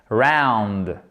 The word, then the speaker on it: round: jeu que vous savez comment dit on le prononce correctement l'anglais round voyez web second round n'hésitez pas vraiment avec